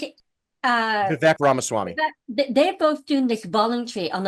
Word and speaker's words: Vivek Ramaswamy: So, And Elon and how do you pronounce it? Vivek Ramaswamy.